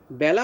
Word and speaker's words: বেলা: বেলা উচ্চারণটা দুইটা উচ্চারণ আছে। যদি এই বেলা অর্থ হচ্ছে সময়, সময়কে বোঝায়, আর আরেকটা বেলা আছে যেমন বেলাভূমি, সেখানে কিন্তু তোমার বেলা উচ্চারণ একার উচ্চারণ হবে, বেলাভূমি। নদীর সমুদ্রের তীরের বেলাভূমি, সেখানে কিন্তু নদীর তীরকে বোঝাতে বেলা একারই উচ্চারণ করব আমরা। আর যেখানে সময়কে বোঝায় যে বেলা দিয়ে, সেখানে আমরা বেলা উচ্চারণ করব এর মতো, অর্থাৎ জ ফলা আকার দিয়ে।